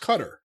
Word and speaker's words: Qatar: It's pronounced Qatar.